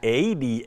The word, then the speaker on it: Aedes: It's Aedes, A-E-D-E-S.